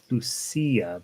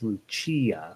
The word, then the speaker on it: Lucia: years how to pronounce lucia uh since we have trouble deciding in spanish it would be lucia but in italian it's lucia okay good little song